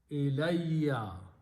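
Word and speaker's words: إِلَيَّ: When you write them together and pronounce them together, it is ilayya.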